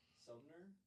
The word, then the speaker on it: Sumner: Some Missouri, town in Missouri that's spelled almost like summer, but replace the last M and replace it with an N. Sumner, Missouri is the goose capital of the world.